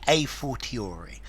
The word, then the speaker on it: a fortiori: pronunciation of this one I'm going to say a fortiori I have heard a and a to start with so a fortiori a